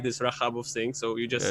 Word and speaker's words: Rajabov: And then That they would sounds ask me, I mean, how should we pronounce? And I would say Rajabov.